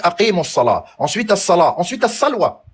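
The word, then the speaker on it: الصلوة: Ensuite, as-salwa. Alif, lam, sad, lam, waw, ta marbouta. Mais qui se prononce as-salat.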